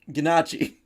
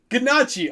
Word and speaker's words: ganache: So, how did you say it was pronounced? Ganache. Ganache. Okay, Yeah, so you do pronounce the CH.